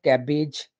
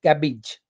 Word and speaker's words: cabbage: c a double b-a-g-e not cabbage its cabbage cabbage cabbage the next